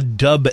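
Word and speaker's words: Dubh: We're also going to be trying a Founders Centennial IPA and the Ola Dub Ale from Scotland, which I'm looking forward. Dub, by the way, is spelled D-U-B-H. Dub.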